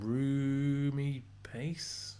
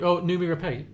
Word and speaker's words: Noomi Rapace: Rumi Pace? Is that how you say it? Noomi Rapace.